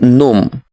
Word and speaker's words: gnome: this is not gnome the first letter g is silent it is gnome the next one have